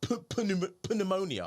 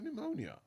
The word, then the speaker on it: pneumonia: spelled like that yeah not pum pneumonia pneumonia okay DB said don't